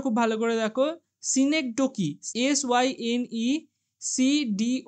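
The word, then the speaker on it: synecdoche: এই উচ্চারণটা খুব ভালো করে দেখো। সিনেকডোকি এস ওয়াই এনই সিডি ও সি এই সিনেকডোকি এরকম উচ্চারণ হবে।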